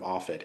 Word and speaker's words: ARFID: Would you explain what ARFID is, and maybe if Sure. I'm pronouncing it No, correctly?